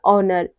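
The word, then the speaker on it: honour: वह साइलेंट रहता है जैसे हो गया ऑनर इको ऑनेस्ट आवर इन सब में क्या है इन सब में एच साइलेंट है यानी कि यहां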